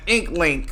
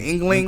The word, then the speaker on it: inkling: Like a chain link. No. Inkling. An inkling. Inkling. Inkling? Spell it. INKLING. Oh, inkling. Okay.